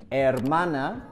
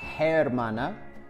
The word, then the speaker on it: hermana: the H in Spanish we don't pronounce the h no matter where it is in the word for example hermana we don't pronounce hermana or ambergesa we don't